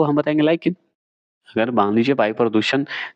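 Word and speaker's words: lichen: अगर सूचक पूछे तो लाइकेन तो लाइकेन है कहां? बता सकते हैं। तो एल आई सी एच ई एन एन एस होता है लाइकेन। लेकिन को ऐसे ही इंग्लिश में बोला जाता है।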